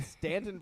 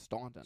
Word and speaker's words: Staunton: We're from Stanton, Virginia, but it's spelled Staunton. So everyone that's out of town thinks it's Staunton, right?